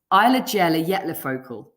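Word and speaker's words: Eyjafjallajökull: vietnam yeah oh i've not fluffed it it's eyelagella yet lafocal i would normally if i didn't know how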